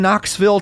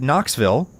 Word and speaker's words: Knoxville: Even though I live in Knoxville, Tennessee, I still pronounce it Knoxville, whereas most people who were born here generally say it more like Knoxville.